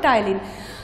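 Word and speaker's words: ptyalin: ठीक है, इसमें पी साइलेंट होगा, टाइलिन.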